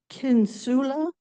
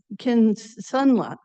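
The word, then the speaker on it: Kisunla: Anyway, um they're called uh kinsula. Oh, sorry, I said it wrong. Kinsla, which has been shown to to slow progression at 18 months by about 22%.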